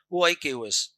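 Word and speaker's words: οἶκος: Oikos, O I K O S. Pronounce this oikos.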